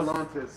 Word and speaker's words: Stellantis: Am I pronouncing that right now? Stellantis.